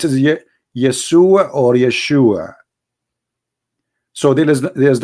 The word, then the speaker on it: Yeshua: those it isn't because they cannot pronounce the correct word the correct word in the Hebrew is Yeshua as simple as that